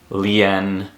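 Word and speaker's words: lian: Any word that ends with I-A-N, you should just mentally switch the A with an E. It's going to be pronounced Tien, Lien, Nien.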